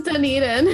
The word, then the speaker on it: Dunedin: zealand i should have asked you how to pronounce that how do you say that it's dunedin dunedin there you go dunedin new zealand after